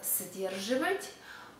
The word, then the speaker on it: сдерживать: We spell сдерживать, but we pronounce сдерживать.